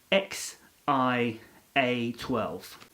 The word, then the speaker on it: X Æ A-12: are fond of so the connect the correct pronunciation for elon musk and grimes is baby uh would be x i a 12.